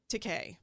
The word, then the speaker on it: Takei: us enemy by george takei i have to stop and think okay i know because i always want to say he says that in the book though he says it rhymes with okay and so i'm like